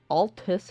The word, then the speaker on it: Altus: It should cover Caelid and Altus Plateau. I'm going to pronounce it correctly now. Altus. I've been pronouncing it Atlas Plateau since I started the game, but apparently it's Altus Plateau.